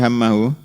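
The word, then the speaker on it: هَمَّهُ: WJA al Imam Ahmad wa Ibnu Majah min hadisi Zaid ibni Tsabit anin Nabi alaihiatu wasalam qala manat ini bacanya hammuhu atau hammahu? Hah? Hammahu berarti isimnya diakhirkan.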